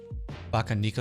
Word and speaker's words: Bakeneko: a few to use baka nico is how you pronounce it so is it neko